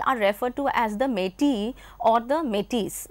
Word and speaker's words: Métis: If you take the French pronunciation, then it would be Métis. M-E-T-I-S is how it is spelled. But then in England, in English, it is called Métis, and in French, it is Métis.